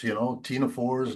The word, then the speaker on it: ctenophores: I always like to say stuff with silent letters, ctenophores, cnidarians, and then there's the